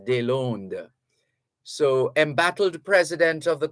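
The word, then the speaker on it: Deslandes: they learned is spelled d-e-s-l-a-n-d-e-s that's a french pronunciation here in jamaica people say des landes but it's actually french it's de londo so embattled president of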